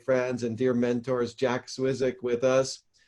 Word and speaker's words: Zwissig: one of my friends and dear mentors jack swizzick with us how you doing jack i'm well